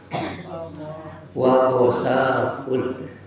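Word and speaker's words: غساق: Wa gosakun. Jadi membaca gosak bisa memakai tasdid seperti ini. Wa gosak bisa tanpa tasdid. Kalau tanpa tasdid takhfif, maka lurus membacanya wa gosak gitu.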